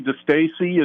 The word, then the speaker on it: DeStassi: And now you came from Connecticut, and there was another player, DeStassi, I believe, also from Connecticut that was chosen, correct? Correct. Ernie DeStassi is how you say his name, and Yes.